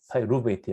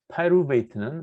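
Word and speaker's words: pyruvate: 파이루베이트, 영어는 파이루베이트 그러면 잘 못 알아들어요. 그러니까 발음은 좀 후져도 좋은데 액센트는 지금 음절에 딱 맞춰서 해야지 외국 사람들이 좀 알아듣죠.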